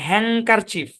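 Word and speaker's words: handkerchief: একটা সাউন্ড না ওই ডি সাইলেন্ট হওয়ার কারণে ওই অ্যাঙ্ক এই সাউন্ডটা চলে আসে হ্যাংকার চিফ কি সাউন্ড হ্যাংকার চিফ বাংলাতে লিখে দেই হ্যাং কার চিফ হ্যাংকার চিফ এরকমও না মানে আপনি উচ্চারণটা এন এর উপরে গিয়ে ফালাবেন ব্যাপারটা ওরকমও না এন এবং কে মিলে হ্যাংকার হ্যাংক এ উচ্চারণ আসবে হ্যাংকার চিফ আর ডি তো সাইলেন্ট এটাই ব্যাখ্যা এরপরে কোন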